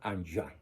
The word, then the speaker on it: Enghien: Como es francés, se pronuncia Anjouan, Bélgica, donde recibe el presbiterado.